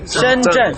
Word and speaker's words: Shenzhen: Shenzhen.